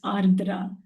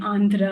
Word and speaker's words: Ardra: a simple name because people will call me Andra Adra or different different names because they cannot pronounce the name Ardra so I had that